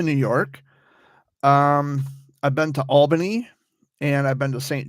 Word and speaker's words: Albany: Albany, I guess would be the proper pronunciation.